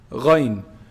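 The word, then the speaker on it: غين: Ghayn. Ghayn is pronounced from the highest part of the throat, the top part of the throat.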